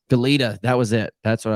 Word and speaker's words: Goleta: Goleta. Goleta.